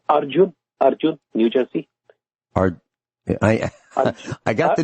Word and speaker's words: Arjun: We'll be right back, and Arjit will be right with you.